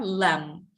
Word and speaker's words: lamb: B is not pronounced, yeah? Lamb.